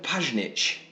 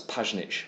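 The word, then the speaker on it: Pjanić: That's Pajnic with a silent J.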